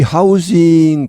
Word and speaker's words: housing: 특히 더 그렇다는 말 여기 하우징 발음이 하우징이 아니고 하우징입니다 the 이렇게 유성음으로 발음이납니다 이건 동사에서 나오죠 주택을 공급하다